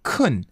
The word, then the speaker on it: 큰: So try to say 큰. It's k. You have to add like some h sound in there.